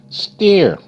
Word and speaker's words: stare: Stare, st, air, stare, stare. Okay, you see the staircase? There are 9 steps on the staircase. Stair. Stare, st, air, stare, stare. E is silent.